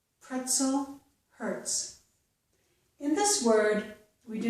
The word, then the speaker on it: hertz: However, if the letter Z follows the letter T in a word, so we have T plus the letter Z, we usually get the S sound, as in the words pretzel and hurts. So the Z's here are not making a Z, they are making a S.